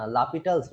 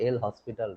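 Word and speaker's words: L'Hôpital: first, Actually, the pronunciation is L'Hopital's rule. Okay, not L hospital rule.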